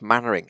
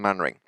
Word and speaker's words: Mainwaring: It's spelt Mainwaring, it's pronounced Mannering. It just is. Some people called Mainwaring do pronounce themselves Mainwaring, but he doesn't, even though he doesn't exist, he's Captain Mannering.